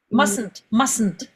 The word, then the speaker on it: mustn't: How could you pronounce it? Mustn't. Ça se ne prononce pas.